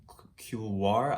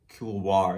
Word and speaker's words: Couloir: Couloir. I think Couloir is how you say it.